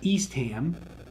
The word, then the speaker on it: Eastham: where there are actually towns that end with the HAM, that's what you say is the ham. Like, so Framingham, that's how that's pronounced, not Framingham. You also have Eastham, Ashburnham, right?